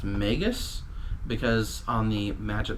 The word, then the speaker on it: Magus: found out that's pronounced Magus because on the match of the gathering website they pronounced Magus the same as Nagus from a Star Trek